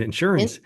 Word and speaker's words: insurance: from maybe Pennsylvania westward puts the emphasis on the wrong syllable when they say the word insurance. Oh, okay. So how do you say it? I just said it, In insurance.